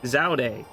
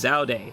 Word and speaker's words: Zaude: and told them like no it's zauday they've been pronouncing it the entire game is zaude and if you say